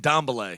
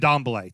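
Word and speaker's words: Dembélé: I thought they had picked up Rodri, not Rodri, Dembele, right? The holding, the holding, Dembele, yeah. Dembele. And I thought, okay, you know what? This is it. This is the year. No, and Dombele. And Dembele.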